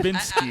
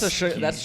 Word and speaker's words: Trubisky: was It's like- Trubisky. How It's many names have you I don't messed care up what today? his It's not name is. Trubinsky. Actually, it's I like that. That's Trubisky.